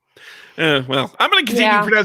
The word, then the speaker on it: Icke: So Speaking of reptiles, so apparently, like the libertarians have gone like full on, like they had David Icke at their like convention.